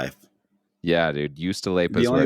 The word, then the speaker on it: juustoleipä: Juustoleipä. Okay. It's just the way it sounds, but it starts with a J. Apparently, the J is silent, so just Juustoleipä.